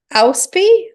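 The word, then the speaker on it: Inchauspé: Inchauspe. That's how it's spelled. It's INCHAUSPE with a little dink on it.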